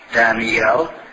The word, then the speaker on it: Daniel: but you know that the Hebrew word daniel has three syllables Danielle the English word at least to Daniel but Moody pronounced was one battle oh come on man you've heard of Daniel Boone and Dan'l Webster haven't you that was the American Way and every time he